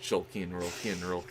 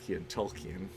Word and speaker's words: Tolkien: No, it's Jolkien, Tolkien.